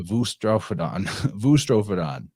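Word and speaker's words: boustrophedon: the modern Greek speaker, their letter beta, they pronounce as a V. So like where we were saying boustrophodon to talk about right to left writing instead of left to right writing, they would actually say voustrophodon.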